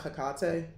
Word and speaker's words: Hecate: work with hecate or some people pronounce that hikate i say hecate because hakkate sound like picanti and that sounds weird to me so hecate um owls